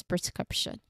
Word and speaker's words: prescription: The key to pronunciation lies in the consonant cluster here, SKR. They're blending in the second syllable. You need to say each of those sounds clearly but smoothly together.